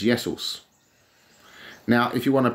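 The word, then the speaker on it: Ιησούς: Christ anointed one Christos to say Jesus Jesus yesos yesos it's spelled like a no but it's yesos now if you want to pronounce drugs Pharma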